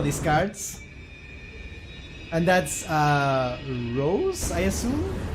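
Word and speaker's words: Roze: Oh, it's not Rose. It's Ros.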